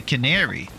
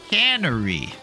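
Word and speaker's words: Cannery: I always thought you guys were saying it's the Canary Canary, but it's the Canary Canery, meaning that they can stuff there.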